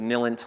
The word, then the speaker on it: NILENT: Now, where we always get in trouble is everyone pronounces it NILENT. I'm like, it's silent with an N.